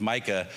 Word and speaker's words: Micah: to say it and they would always say Mika. Mika, Mika. And and then I'd have to express to them, no, it's Micah.